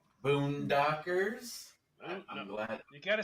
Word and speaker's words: Boondockers: Boondockers. I'm glad. You gotta say it right. Because say it right. No, we are. Take off the R and add an AH. It's a boondaka.